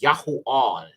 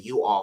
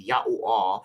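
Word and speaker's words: יוֹאֵל: is Joel okay and this would actually be pronounced yahu all yahu all or some people say youu all for sure but it would be yah all which means alua is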